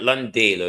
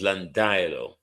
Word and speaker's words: Landilo: It's not Landalo, it's Landilo. Landilo.